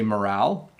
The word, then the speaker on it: morale: so I would say morale I would say finale and I would say locale so that's how I would pronounce those three I am not sure